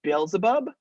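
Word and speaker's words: Beelzebub: belial belial and this one down here is bilzebub and mammon the rest of them i think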